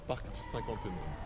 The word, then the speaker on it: Parc du Cinquantenaire: Cinquantenaire, Parc du Cinquantenaire.